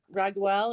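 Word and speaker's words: Raguel: that called me um archangel ragwell is that how we pronounce his name yes beautiful um you're supposed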